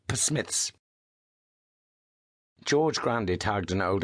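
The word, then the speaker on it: Psmith: of thing it's called P Smiths George Grandy tugged an old envelope from his pocket scribbled that's Smith with a silent PE at the start George Ned said he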